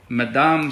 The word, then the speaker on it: Madame: Madame is Madam.